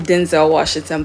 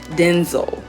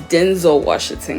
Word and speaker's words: Denzel Washington: watch all his movies is Denzel wash everybody pronounce him Denzel Washington but he actually said his name is pronounced denzo it's Denzel Washington guys that's how his name is actually supposed